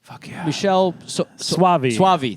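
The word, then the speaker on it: Michele Soavi: I watched the sect 1991 Michelle suavi that's how you say it um didn't like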